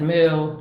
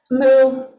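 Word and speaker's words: μῦ: They pronounce this one a little bit differently in the video. I've always just said moo. The important part is the sound. So it's an M.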